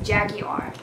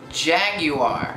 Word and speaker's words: jaguar: like that angry and I would pronounce it as Jaguar Jaguar which I never do all South Africans say it that way but that's differently I